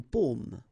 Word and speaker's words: paume: Okay, so you can see that I pronounce them a little bit, a little bit differently, but then we'll be careful that in many cases people will pronounce them the same way, okay, because in that case normally it should be a bit lower, pomme, and then here more open, so pomme, okay.